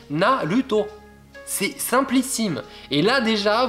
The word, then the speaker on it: Naruto: Le R, c'est simplissime. Vous remplacez le R par la lettre L dans votre tête et vous le prononcez. Vous voyez écrit R-A, ça fait la. Donc par exemple, on dit pas Naruto, on dit Naruto.